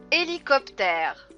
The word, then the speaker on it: hélicoptère: père boss h thermos hélicoptère et hélicoptères ch et lee kopter vous voyez on ne prononce toujours pas le hb hélicoptère herbe rbh herbe omar